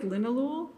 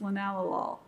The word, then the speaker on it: linalool: And one of those compounds is linalool, which looks like linalool, but it's pronounced by chemists linalool.